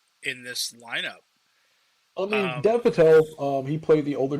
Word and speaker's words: Patel: i will say it's dev patal i guess this is how you say his name patel patel now i know no one in this